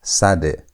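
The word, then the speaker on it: צדי: Notice that I'm saying instead of sad. It's not sad. It's sad. There's that ts sound. Sad. Sad has t sound as in the word hats. That t is where sad gets it sound. Or as in the word cat, that t ss sound is where sad gets its sound.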